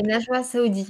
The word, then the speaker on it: Najoua Saoudi: Alors, je voudrais pas mal prononcer ton nom, donc Oui, c'est bien ça, c'est Najwa Saoudi.